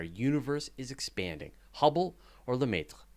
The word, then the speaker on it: Lemaître: yeah, all my American comes out on that one. Is that how you say it? That is the Wow. Americanized pronunciation. Yep. We pronounce all of the letters Yep. because it's not lieutenant.